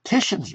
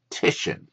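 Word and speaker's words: Titian: it's moving and uh tisan work let's pronounce these artists correctly tishan uh the Assumption and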